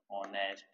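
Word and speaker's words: honest: जैसे ऑनेस्ट लिखते हैं, ऑनेस्ट है, फेयर है, इनमें एच क्या है? साइलेंट है।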